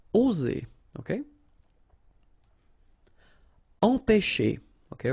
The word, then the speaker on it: empêcher: Okay, remember, accent circonflexe on the top of E here goes like E. All right, nasal here, en, pe, and then you've got this CH, and it produces this sh sound.